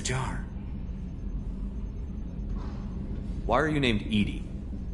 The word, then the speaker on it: EDI: why are you named edie edie is the phonetic pronunciation of edi that is an acronym for enhanced defense intelligence why are you named